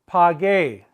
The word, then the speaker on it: pagué: They're going to have a gay at the end with an accent on the E. We must maintain the hard G sound, the ga sound.